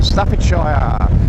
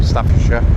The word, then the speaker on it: Staffordshire: We're in Stafishshire or if you say it properly, Staffordshire Sorry if it's a bit windy, but I can't have the main sort of uh visor down.